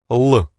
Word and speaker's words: Л: So this letter is pronounced like the English L. L.